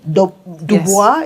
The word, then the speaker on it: Du Bois: Du Bois, I think, did I pronounce it properly? Du Bois, yeah.